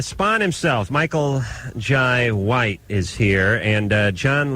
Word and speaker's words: Jai: How do you pronounce that? Jai? Jay? You got it, Jai.